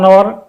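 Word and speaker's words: hour: ব্যবহৃত হয় যেমন অন আওয়ার অনেস্ট ম্যান এখানে প্রথম নাউন আওয়ার এখানে আওয়ারের প্রথম লেটার এই অনুচ্চারিত সুতরাং এর পূর্বে আর্টিকেল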